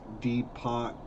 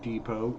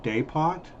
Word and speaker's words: depot: give free wi-fi parallelogram it's pronounced deep pot not depot you're right it is actually i believe it's french it's day pot so i'm just going